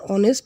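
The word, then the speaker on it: honest: হি ইজ অ্যান অনেস্ট ম্যান, সে একজন সৎ মানুষ। অনেস্ট, যদিও অনেস্ট এটি কনসোনেন্ট ওয়ার্ড দিয়ে শুরু হয়েছে, কিন্তু এর উচ্চারণ হয়েছে ভাওয়েলের মতো, তাই এর পূর্বে আমরা অ্যান ব্যবহার করব, অ্যান, তাই উত্তর হবে অ্যান।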